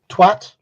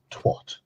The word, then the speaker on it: twat: Twat rhymes with cat. It's a short A.